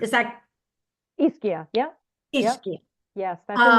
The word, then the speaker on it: Ischia: Ishka. Is that Ischia.